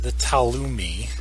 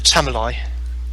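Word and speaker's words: Tamuli: Obviously, from what you're saying is that this story, the Talumi, however you pronounce it, is The Elenium and the Tamalai.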